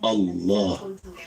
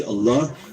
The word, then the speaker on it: Allah: When we say Allah, we should say with a full mouth and feel the greatness of Allah as we say His name. Full mouth, not flat mouth, full mouth. Allah. Hold the lam and feel the power of Allah as we release it and say Allah. This is how we should say Allah.